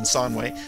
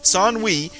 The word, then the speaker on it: Sanwi: If the tales are true, the sorcerer Sanwi, and now that I can pronounce that more or less correctly rather than Sanwei, Sanwi is about to emerge from the tower and wreak terrible vengeance.